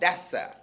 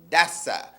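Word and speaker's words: دسّ: to bury a thing spell it D SSA if you spell if you know Arabic it would be Dal scene with what's called a sheda on top of the scene that'sa it means to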